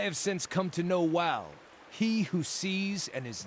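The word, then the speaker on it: Wael: But I have since come to know Wal, he who sees and is not seen.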